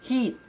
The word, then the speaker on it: heat: It's not hit, it's heat. First heat, second heat, third heat, fourth heat. Not first hit, second hit, third hit.